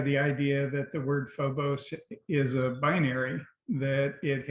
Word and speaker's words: Phobos: time bring up your um piece called uh Phobos is that am I pronouncing it correctly yes so if you could